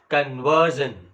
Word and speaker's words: conversion: conversion the word conversion there is a suffix called s i o n and the the syllable which precedes this s i o n is v e r and that's why you speak it as conversion right uh in the